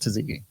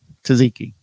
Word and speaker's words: Tzatziki: white what you mean Tzatziki is it taziki that's what it's pronounced Tzatziki Tzatziki okay how was your weekend it was